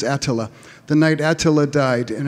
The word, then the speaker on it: Attila: Actually, the correct pronunciation is Attila.